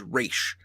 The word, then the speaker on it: Ra's: language it was but the actual pronunciation in that language of that word was race as you know because the Rachele Ghul means head of the demon and yeah yeah but that that is the actually the correct pronunciation hey and it is